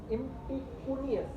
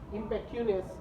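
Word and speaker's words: impecunious: इम्पिकस, इम्पिकुनियस, sorry इम्पिकुनियस, इम्पेक्यूनियस, उसको ऐसा pronounce कीजिए, इम्पेक्यूनियस करके जो वर्ड है।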